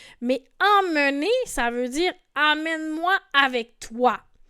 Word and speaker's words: emmène-moi: Alors, normalement, elle devrait dire emmène-moi là où ça sent l'amour. emmène-moi avec toi, emporte-moi avec toi. Et dans ce cas-ci, on écoute la prononciation amène-moi qui est aussi une erreur que font parfois les Québécois entre Aen et amen.